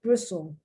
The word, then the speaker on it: bristle: listen bristol whistle bristle see i pronounce that t and it's not supposed to be pronounced bristle grizzly often i've heard